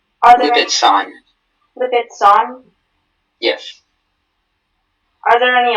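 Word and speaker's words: Lipizzan: Lipitson. Are there Lipitson. Lipitson? Yes. Are there any alternate pronunciations?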